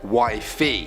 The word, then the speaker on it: wi-fi: nickname for me is wi-fi but pronounced wifey it's a silly inside